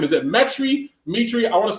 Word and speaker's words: Metry: name is it metry dmitry i want to say it right it's the first one it's metry it's like geometry but without the geo metric okay mr metric